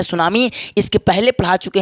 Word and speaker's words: tsunami: तो कह दीजिएगा कि जैसे नॉलेज में के साइलेंट होता है वैसे ही टी साइलेंट होता है इसमें तो सुनामी का इंग्लिश